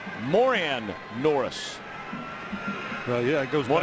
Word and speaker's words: Moran Norris: For those of you curious, he used to have his name pronounced Moran Norris, and this year is asked it's Moran Norris.